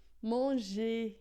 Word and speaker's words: manger: Manger, esse R final, a gente não pronuncia, fica só manger.